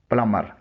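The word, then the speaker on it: plumber: इसमें बी खामोश है। इसका सही प्रोनंसिएशन है प्लम्बर।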